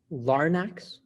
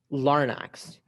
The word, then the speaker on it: larnax: as a sepulchral chest there are no alternate pronunciations larnex larnax larnex larnax l-a-r-n-a-x bar next that's correct all right round 18.